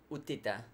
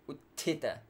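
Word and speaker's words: utthita: good kita extra air would Tita not you Tita but good Tita trikonasana always long Erna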